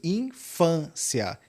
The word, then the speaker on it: infância: A palavra infância, perceba que o peso infância está no fã.